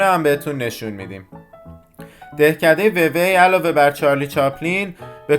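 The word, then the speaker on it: Vevey: از بالا ببینن دهکده ووی یا به تلفظ فرانسوی و و معروف به دهکده چارلی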